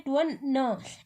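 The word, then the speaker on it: twenty: अच्छा, 20 की स्पेलिंग में TWE, देखिए ये मैच करवाना है बच्चे को कि TWE यहाँ भी है और TWE यहाँ भी है, पर हम बोलते क्या है, इसको बोलते हैं ट्वन न।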